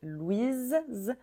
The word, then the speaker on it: Louis: fé au féminin c'était Louise Louise on prononçait Z avec le E final Louise au masculin le s est muet Louis celui-ci alors il peut